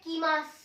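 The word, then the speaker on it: 来ます: कम को कहते हैं कीमास, कीमास। यहाँ पे भी मैंने बताया था यू जो है साइलेंट हो जाता है, तो ये मासू नहीं है, मास है, तो कम मीन्स कीमास।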